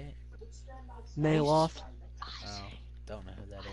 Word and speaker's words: Neloth: Neloth.